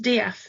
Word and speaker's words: Death: next to hours was called Mr death yeah true true story he really was but he used used to like it to be pronounced DF Mr DF yes I've noticed that